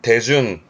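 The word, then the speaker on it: 手順: 발음은 대준. 조심의 발음이 대준. 한국어가 수순이다 보니까 슈가 아니고 이때 발음은 뜻으로 가서 대준 대준 어떠한 순서 절차를 말합니다.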